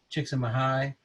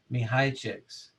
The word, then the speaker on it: Csikszentmihalyi: I always say his name Csikszentmihalyi, but let's see how to pronounce. All right, but the way that they pronounce their name is Mihaichik.